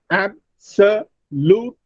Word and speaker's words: absolutely: That is, in each word given here, you will find 4 syllables, like absolutely. There are 4 syllables, but out of these 4 syllables, the first syllable is stressed, absolutely, or categorize, ca is stressed, educated, a is stressed.